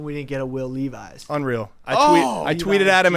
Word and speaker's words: Levis: I mean I uh Levi's Levis people pronounce my last name like Levi's all the time because of the